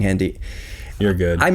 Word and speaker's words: Hendy: calm heent why I hope I've been saying handy you're good I'm mispronouncing earlier today I said there's a lot